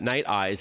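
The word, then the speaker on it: Nite Ize: And I just want to clarify to our audience that NiteEyes is spelled Niteize.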